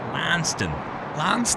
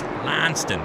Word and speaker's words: Launceston: And that is spelt exactly the same, but it's pronounced Lanston. Not Launceston, it's not Lanston. Really? It's Lanston.